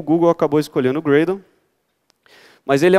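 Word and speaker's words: Gradle: sistema de bild no Grau descobri que a pronúncia greydon que eu tive um copo americano falei gravou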